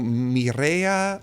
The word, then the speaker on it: Mirella: And then it's another fun fact is my name is actually Spanish. So my mom is from Ecuador. So my name's technically pronounced Mirella. So oh, Mirella. It's my name. Mireya.